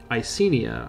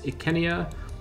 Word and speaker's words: Icenia: overboard with it but things like kenya instead of isenia i think makes it feel a bit more period appropriate of course the romans would have called this ikenia they would also would